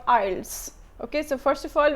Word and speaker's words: IELTS: with Manal Fatma by the way it's not eyelids I've heard many people call it eyelids IELTS kalokhe eyelid scar that there is a wrong pronunciation is called isles okay so first of all we need to